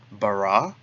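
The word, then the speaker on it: בָּרָא: The next word, bara. Bait with a comets, resh with a comets, and then the aleph. Bereshit bara.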